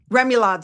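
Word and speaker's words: remoulade: Remulad sauce. People are like, "You you need to learn how to pronounce that." In the United States, that's remulad.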